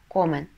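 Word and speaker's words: comen: Инфинитив «комер», «они едят» – «комен».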